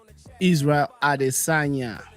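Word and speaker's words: Israel Adesanya: Is it Israel Adisagna? Am I pronouncing that right? Israel Adisagna.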